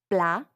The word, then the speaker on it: plat: Plat. Notice how the final T is not pronounced. That's because in French, generally, if a word ends with a consonant, it's silent.